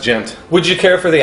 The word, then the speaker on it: Ghent: Oh, would you Pronounced gent.